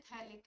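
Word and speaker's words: phthalic: सी होते हैं तो इसको बोलते हैं थैक एसिड प से लिखते हैं प साइलेंट होता है कंपाउंड क्या बनता है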